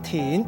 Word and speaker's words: 斟: 第二个词都要读作停，停茶停，都是把茶倒入去杯仔底。